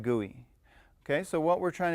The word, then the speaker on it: GUI: And we do pronounce that GUI.